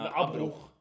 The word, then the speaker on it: Abbruch: In German, you pronounce the ch like the in Spanish. Okay, I wasn't aware of that. So it's like Abbruch. Abbruch. No, Abbruch.